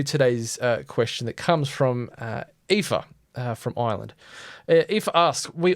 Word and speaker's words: Aoife: I had gone to school with an Aoife, so I know how Aoife is pronounced, luckily.